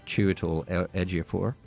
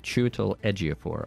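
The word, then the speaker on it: Chiwetel Ejiofor: going to win it's the story of uh cheol edor and uh yeah in case you're wondering that is how you pronounce his name chal edor I looked it up I even listened to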